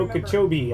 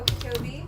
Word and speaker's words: Okeechobee: Okeechobee, I think is how you say that, by the way. Sorry. Yeah, Okeechobee, Florida.